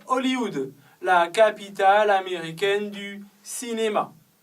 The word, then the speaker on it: Hollywood: En français, on ne prononce pas le H. On dit Hollywood, la capitale américaine du cinéma.